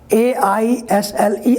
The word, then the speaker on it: isle: For example, you can see here A-I-S-L-E, aisle, and then I-S-L-E, this is also pronounced aisle, and the contraction form of I will is also pronounced aisle.